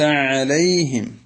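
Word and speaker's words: عَلَيْهِمْ: നബി സലാം അലൈക്കും എന്നിങ്ങനെ ലേ ലേ എന്ന ഒരു എകാരത്തിലേക്ക് പോകാറുണ്ട് അത് ഇവിടെ അനുവദനീയമല്ല കാരണം ലാമിന് ഫത്ഹ് ഇട്ടാൽ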